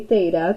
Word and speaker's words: theta: So say theta. This is how you pronounce this guy right here.